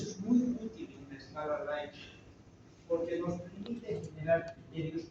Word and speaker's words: Likert: La más utilizada es la escala Likert, que se llama Likert. Se escribe Likert, que en su esencia, en la